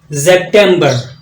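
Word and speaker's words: September: आवाज आ रही है ये जो सीन है जब जर्मन में प्रोनाउंस करेंगे तोय जड की आवाज देता है सेमबर सेमबर अक्टूबर है तो जस्ट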